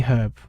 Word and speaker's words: herb: That's why it says an herb, because they pronounce it as herb, so it's herb. That's not how I pronounce it. I pronounce it as herb because there's a fucking H in it. Fucking H in the herb, right?